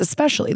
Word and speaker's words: especially: It's especially. There's no X. The C and the S are not reversed.